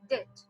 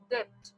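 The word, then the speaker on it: debt: হচ্ছে 4 নাম্বারে লেখা আছে মার্কেট ভ্যালু অফ ডেট। ওকে, এটার উচ্চারণ কিন্তু ডেট, নট ডেপ্ট।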